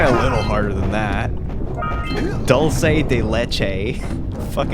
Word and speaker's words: dulce de leche: haven't had that forever you ever heard like english speakers try to pronounce it they say dulce de leche and i'm just like